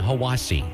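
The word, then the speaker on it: Hiwassee: expires I'm dwane from Cleveland Tennessee and it's pronounced Ocoee Etowah and hawasi Adam Denver asoe hawasi itoa Jamie Denver I'm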